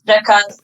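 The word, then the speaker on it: Prekaz: Is it Prikaz? Yes, it's Prikaz. I'm pronouncing it wrong there. No. You are right, because it is written with an E.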